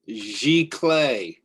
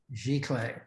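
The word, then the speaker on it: giclée: that for me please that is pronounced g-clay g-clay so i'm going to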